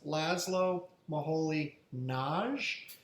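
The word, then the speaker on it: László Moholy-Nagy: teacher at bahaus was laszlo maholi naj that's how you pronounce his name and he was really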